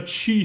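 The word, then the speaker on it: ち: she is pronounced like chi in chees this is the second exception here aana instead of a t sound it's a chi sound try not to forget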